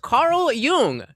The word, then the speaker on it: Carl Jung: Umla is pronounced Carl Yung. Spelled K A R L Y O O N G with the J sounding like a Y and the U having a soft ooh sound as in book or the German word for young.